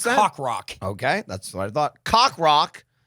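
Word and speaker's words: Coq Roq: It's spelled COQROQ. Yep. But That's it why it sounds like cock rock.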